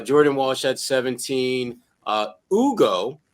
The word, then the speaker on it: Hugo: Uh Ugo Gonzalez. Nope, that's that's the right pronunciation, right G? That's correct. Ugo.